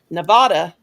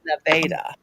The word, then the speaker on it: Nevada: It's like people in Nevada, because I remember the first time I went to Nevada to Las Vegas, and I said, Nevada, this man turned and he said, you're not from here, are you?